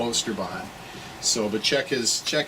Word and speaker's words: Oosterbaan: just in case you don't know how to stall ooster Bond so but check his